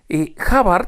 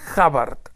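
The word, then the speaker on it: Hubbard: l Ronald havard no havard se escribe H de huevo u b b a r d havard no se pronuncia havard estoy ha haciendo ahora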